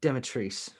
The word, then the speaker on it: Dimitrescu: It's Demetrice. Demetriscu. No, the U is silent. Demetrice. Yes.